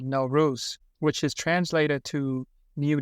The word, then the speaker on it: Nowruz: Pronounced Nowruz, right?